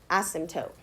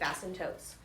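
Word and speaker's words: asymptote: that's called is an ASM toote okay and it's spelled kind of weird a s y m p t o t e ASM toote and it's a boundary line that your graph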